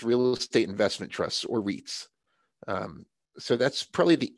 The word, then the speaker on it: REIT: listening here to to get it right so wreaths are a special type of company that are